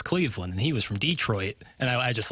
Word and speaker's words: Detroit: Some get that extra syllable in there at the end.